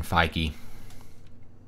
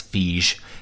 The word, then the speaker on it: Feige: that if I were Kevin Feige well I keep wanting to pronounce fiche if I were if